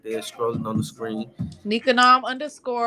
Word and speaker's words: Nikangam: Nikanom _ all lowercase. The G Oh, is silent.